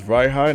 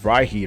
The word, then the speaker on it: Rhyhide: This is Rhyhide, in case if you didn't know how to pronounce it. You probably pronounce it as Rhyheat or some shit, I don't know.